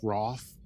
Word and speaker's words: Routh: Spelled Routh, but it's pronounced Roth or something like that.